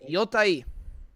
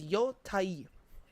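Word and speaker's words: Yōtei: I looked up how to actually pronounce this thing. It is Yotei. So it's much easier to say Ghost of Yotei. But yeah, if you wanna correctly say it, is Yotei.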